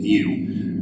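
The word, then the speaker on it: Vue: It's spelled V-U-E, View, in French.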